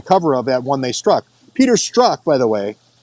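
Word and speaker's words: Strzok: and at one they Struck it the the pronunciation of Peter struck's last name is struck so it's kind of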